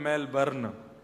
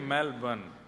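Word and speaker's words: Melbourne: हमारे एक भैया बोल रहे मेलबर्न, जो मैल को जला दे, मेलबर्न। मैंने कहा नहीं, मेलबर्न, र जो है वो साइलेंट बोलो।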